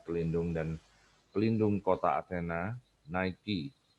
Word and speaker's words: Nike: dan klindungan kota Athena Nike diucapkan Nikkei adalah bahasa Yunani untuk